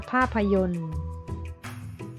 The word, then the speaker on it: ภาพยนตร์: ว่า บริสุทธิ์ นะ คะ ภาพยนตร์ นะ คะ ตอเต่า รอ เรือ แล้ว ก็ เครื่อง หมาย ทัณฑฆาต นะ คะ ภาพยนตร์ อ่าน ว่า ภาพยนตร์ กษัตริย์ นะ คะ อ่าน